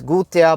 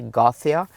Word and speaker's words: Gothia: however you pronounce it I think like in Norwegian and in Swedish it's Gua but in English it's probably gotha so we right here